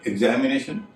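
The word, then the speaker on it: examination: लेकिन एग्जामिनेशन, जिसे हम एग्जाम भी करते हैं, उसमें एक्स का उच्चारण ज हो रहा है।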